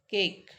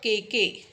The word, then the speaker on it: cake: So it's a cake, cake. So it is diphthong and it will be counted as one. It's not KK, it's cake. E is silent.